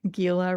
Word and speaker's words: Gila: Gila in my coaching work. Gila rhymes with tequila.